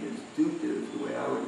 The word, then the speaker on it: Dutta: Datta? Yeah, in Bengal it's Datta. Like, Bhaktivinoda Thakur's name was Kedarnath Datta. Same last name. Datta. So Yeah. they say Datta, not Dutta.